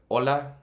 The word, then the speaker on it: hola: Same thing with hola. It's not hola. So there's the first lesson, is the H is silent.